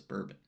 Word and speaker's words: Bourbon: the French Quarter of New Orleans though we pronounce it as bourbon the borbon continued the tradition of doing out